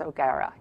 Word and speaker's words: O'Gara: Museum of Photographic Arts, James O'Gara. Rhymes with O'Hara.